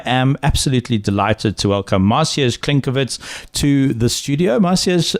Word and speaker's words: Maciej: This is part of a larger podcast series, but right now I am absolutely delighted to welcome Maciej Klenkiewicz to the studio.